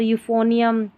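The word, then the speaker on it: euphonium: फिर है EU को यू पढ़ते हैं, इसका उच्चारण होता है EU का यू। जैसे कि यहाँ पर देखिए यूरोप, ये शुरू में आ रहा है ना, यूरोपियन। और यूफोनियम, यहाँ पर है यूकेलिप्टस, क्या है, यूकेलिप्टस।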